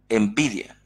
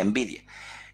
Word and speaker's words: NVIDIA: de ellas es la que se conoce como envidia se llama así en el vídeo se pronuncia en vídeo esta empresa es una empresa que es el